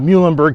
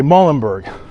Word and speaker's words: Muhlenberg: it provided me with the correct pronunciation of Muenberg County because as she had told me and as I sort of surmised, folks that are not from around here would probably say Mullenberg.